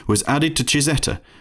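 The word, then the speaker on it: Cizeta: name was added to chizeta the italian pronunciation of zampali's initials the former engineer also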